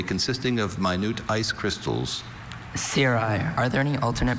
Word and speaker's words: cirri: Cirri. Are there any alternate pronunciations?